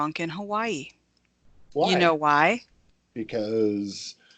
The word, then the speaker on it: Hawaii: cities it's actually pronounced Hawaii the the Hawaiians do not use the W so they pronounce it as a V so like Hawaii is the correct pronunciation